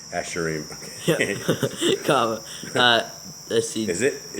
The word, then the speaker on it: Asherim: Asherim. Asherim. Okay. comma. Let's see. Is it? Yes. It's spelled Yes.